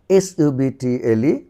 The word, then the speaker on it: subtle: এ পাশে দেখো টির পূর্বে বি, এটি সাইলেন্ট থাকবে। Date, date, date. DOUBT, doubt, doubt, doubt. SUBTLE, subtle, subtle, subtle নয় subtle, subtle.